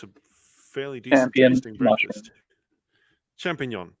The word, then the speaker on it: champignon: Champignon, yeah, the French ones. I mispronounced it. I said champion. No.